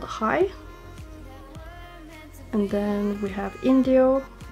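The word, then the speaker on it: Hai: Then it's the shade High, and it's spelled H-A-I.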